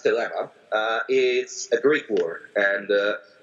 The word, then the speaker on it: Thelema: it which I pronounced dilemma is a very poor and I would say my pronunciation is ancient Greek for me because I studied it as University and United